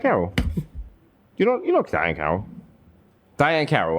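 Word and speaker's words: Diahann Carroll: Daiana Carroll died. That's not funny. That's for real. Who? Daiana Carroll. You know Daiana Carroll. Diane Carroll. I'm pronouncing it wrong.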